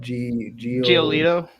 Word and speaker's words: Giolito: Giolito.